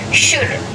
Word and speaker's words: should: यानी की उच्चारण से शुड एस ह ओ यू एल दी इसका स्पेलिंग है लेकिन यहां पर अगेन एंड का उच्चारण नहीं किया जाता है इस को शुद्ध पढ़ते हैं इसका मतलब होता है